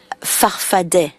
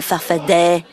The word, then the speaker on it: Farfadet: Your movement, you call it Farfadas with 2 A's at the end, but you pronounce it Farfadet. Answer, depends on who pronounces it. I've always said I'm a Farfadet.